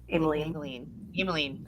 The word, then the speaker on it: Ameline: She told us to pronounce it like Maybelline. Ameline.